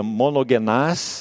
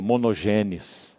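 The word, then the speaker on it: μονογενής: No grego seria monogenás, esse mono. O que é mono? Único, né? Mono, singular. Monogenás. A gente no português pronuncia monogênes, né?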